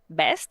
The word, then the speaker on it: vest: Be careful about that. It's a very common issue with the Spanish speakers. You guys don't differentiate between a b and a v phoneme, right?